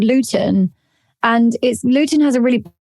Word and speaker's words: Luton: Is that spelled like Luetin? Luton.